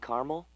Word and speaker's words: caramel: loaden or caramel the caramel please the what I'd like it in Caramel oh the caramel yeah that's what I said Tina actually you said caramel when it's pronounced caramel can't we just call